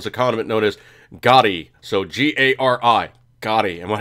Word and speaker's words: gari: The pickled ginger in the sushi world is a condiment known as gari.